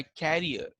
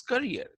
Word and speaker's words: career: When we talk about a future career, most of the students, they mispronounce it by carrier. So it's not a carrier, but it is career.